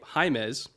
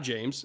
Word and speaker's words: Jaimez: about his pronunciation for his name jaimez it's not james out of nebraska he's